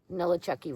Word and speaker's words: Nolichucky: Nolichucky River, which is down by Uncle Johnny's hostel where we'll be stopping. We have a box there. Just think of New Orleans and your favorite horror movie character. Nolichucky.